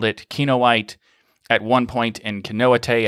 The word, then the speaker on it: Kinoite: the show i asked him if it was canoa te and he said no it's kinoite and turns out both of those fit pretty